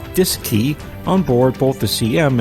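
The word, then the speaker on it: DSKY: as the D s KY pronounced disc II on board both the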